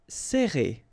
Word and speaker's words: serrer: Alright, so interesting here because you get this E and then double R after that. So it will open the sound of E, okay? So you will pronounce it like E.